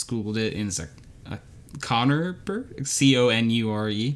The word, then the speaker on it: conure: it in a connor c-o-n-u-r-e probably not pronounced like the name connor but uh conure whatever bird uh i